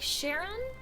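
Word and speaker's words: Charon: do you pronounce it is it like sharon the fairy men exactly exactly um like like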